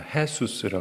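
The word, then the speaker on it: Jesús: 해수스라 그래서 해수스 제일를 해로 발음을 해요.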